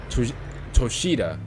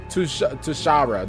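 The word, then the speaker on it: Toshara: super fun I can't lie to you bro to toshida oh sorry to to toara to Tosha T Tara that's how you pronounce it okay oh that's ooh I kind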